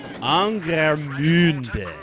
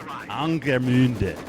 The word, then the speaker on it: Angermünde: of this map, really it should have an umlaut over the U, because the UE is the special German character Ü, and Ü has an umlaut generally, so you know how to pronounce it, Ü, as opposed to a normal U.